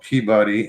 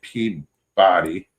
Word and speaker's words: Peabody: There's a town in my state called Peabody, and people say Peabody Yep. when it's actually Peabody. Peabody. They pronounce it Peabody.